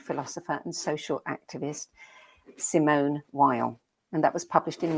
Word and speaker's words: Weil: by the renowned philosopher and social activist simone weil and that was published in 1950 yes um so simone vay it's actually pretty very well i checked and